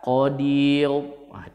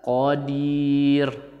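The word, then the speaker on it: قدير: Saya ingin Qodir nah perlu dipastikan di Qodir itu tipis Qodir gak boleh membaca odil salah Hai jadi yang benar Qodir jadi mulutnya agak nyinyir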